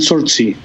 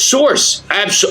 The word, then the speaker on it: Sorxe: And Sortsi. Oh, it's Source. Oh, my God. Yeah, Source. I don't know how you spell it. How you pronounce it. It's Sorxe. They are one of the most powerful bands in Phoenix, Arizona.